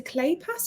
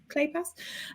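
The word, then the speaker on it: Kleypas: away um and Lisa clay pass whose surname I'm never sure how to pronounce but I think it's clay pass um has a series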